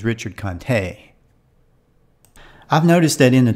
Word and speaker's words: Richard Conte: one apparently it's not Richard Kant according to Google the pronunciation is Richard Conte I've noticed that in